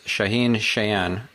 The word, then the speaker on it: Shaahin Cheyene: stefan spencer and today i have with us shaheen cheyenne am i pronouncing that correctly absolutely all right awesome so